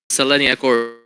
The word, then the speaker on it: Selenia: think you cut out or something wait uh selenia that's pretty much it Salia yeah Salia so